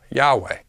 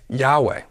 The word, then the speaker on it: Yahweh: Alpha Epsilon and alpha pronounced as Yahweh we don't see how this solves their problem this would have Josephus agreeing that the pronunciation of the name is Yahweh Yahweh is not the same pronunciation as Jehovah either way the Josephus